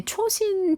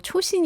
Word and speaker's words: 초신: 제가 모국어가 한국어다 보니까 조신은 한국말 같지가 아는데 하는 느낌이 왔는데 찾아보니까 그 당시 이제 일본이 남겨 놓은 지도를 미군이 쓰면서 그게 이제 일본어로 초신 이더라고요 예 일본 발음이 그래서 이제 미국에는 어